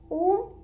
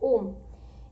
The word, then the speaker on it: ओम: ओम 3 अक्षरों से बना है, अ उ म, अरे आधमा, अ उ म, 3 अक्षरों से बना हुआ है ओम।